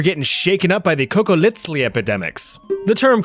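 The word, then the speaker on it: Cocoliztli: If you watched my video about surviving the Aztec Empire, you know that funny little TL pronunciation, the sound is on purpose.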